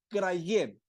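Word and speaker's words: κραυγή: en el griego es Craig Craig con acento en la e es K r a y G u e cray y es muy muy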